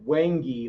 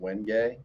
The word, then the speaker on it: wenge: I can't remember how, I think I said wengi last time, and they said it's actually pronounced wenge. All right, you're just lucky I didn't say wenge because it's an excellent fretboard material. So it's pronounced wenge.